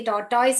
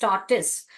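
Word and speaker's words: tortoise: टॉर्टिस का एग था, यानी कि टॉर्टॉइस भी बोलते हैं जिसको, मगर राइट प्रोनाउंसिएशन इज टॉर्टिस।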